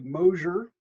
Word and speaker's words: Mosser: Well, first thing I'll point out is you pronounce my name the way most people do, but it's actually Mosher, kind of like Mosier. closure or exposure or something.